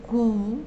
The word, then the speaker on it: cou: Bueno, así como la U sola en tu o en rue es U, cuando tenemos la O con la U, ahí sí se pronuncia como la U castellana, como en la palabra cou, que significa cuello.